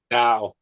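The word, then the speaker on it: dao: freit marriage gins jans deos you pronounce that deo or da bill da da okay deo sounds like the song right that's right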